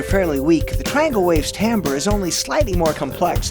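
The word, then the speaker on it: timbre: overtones are the term tamber is the tonal quality of a particular sound it's often mispronounced as timber because the spelling of both words is similar what makes the tonal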